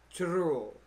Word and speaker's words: churro: Gotta roll the R's, I heard. Churro.